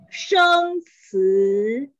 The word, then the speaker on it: 生词: 生词 okay.